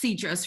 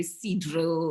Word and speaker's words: Cedrus: And I didn't want an actor kind of learning, that Cedrus is pronounced Cedrus rather than some other way, Cedro or something.